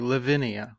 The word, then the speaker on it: Lavinia: this name okay live is pronounced normally Lavinia okay one two three four syllables okay but what we've